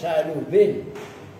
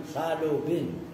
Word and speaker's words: Salubin: Tasbih wa huwa bermula innahu mansubun ala dzarfiyah tasbihan bil mubham madhhabus salubin. Cara bacanya salubin. Itu adalah madhabnya Imam Salubin. Itu bacanya ba antara ba dan fa.